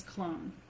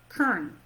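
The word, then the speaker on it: Köln: in Colone, Germany, and the locals don't pronounce this Colone. What do they say? I feel like I wrote it down. Let me see if I did. Kern. Kern, that's right. Yes, Kern. they pronounce it Kern.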